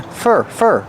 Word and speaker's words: for: And we hear the pronunciation of for change to fur, because it's not a stressed word.